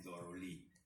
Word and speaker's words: thoroughly: Non è through, non è thought, non è il passato del verbo think, non è attraverso, through, c'è una O in mezzo, e si legge completamente diverso.